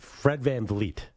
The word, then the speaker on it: VanVleet: Fred VanVleet. Fred VanVleet. Yeah. What did I say? No, I always say it wrong. I always get sometimes Fred VanVleet. You get a little F in the second V.